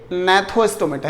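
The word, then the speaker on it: Gnathostomata: दूसरी तरफ आप देखिए नैथोस्टोमेटा, यहाँ पर जी साइलेंट रहेगा, नैथोस्टोमेटा यानी कि जॉड।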